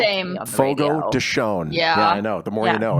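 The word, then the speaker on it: Fogo de Chão: The only reason I know it's not pronounced Fogo de Chao is because of working in radio.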